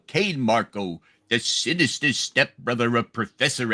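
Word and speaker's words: Cain Marko: He's pronounced Kane Marco.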